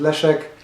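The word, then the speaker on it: Leszek: so i don't know why english people cannot pronounce le check maybe because it's s and z together and uh brits panic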